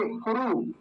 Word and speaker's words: कुरु: ऐसे बनता है तो देखिए कुरु कुरु में छोटा उ बन रहा है लंबा नहीं खीच कुरु जल्दी से बोला जाएगा कुरु और इसमें फिर